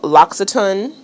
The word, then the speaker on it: L'Occitane: I have all beauty products to show you all because I'm also on the L'Occitane, that's how you say it, PR list, and they send me these two products religiously.